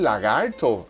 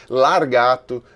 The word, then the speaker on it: lagarto: Lagarto não é uma palavra das mais fáceis de pronunciar do espanhol e nem do português, né? Só vê que aqui no Brasil mesmo tem várias pessoas que chamam de largato, de largarto, tá?